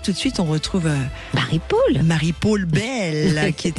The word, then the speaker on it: Marie-Paule: Et bien de la même façon qu'on dit une épaule et non pas une épaule, on a eu ce prononce, on dit Marie Paul.